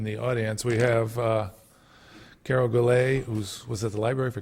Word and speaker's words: Goulet: Do we pronounce it right, Carol? Carol Goulet?